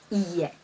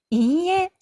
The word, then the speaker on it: いいえ: いいえ.